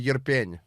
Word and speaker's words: Irpin: It's this town called Yerpen.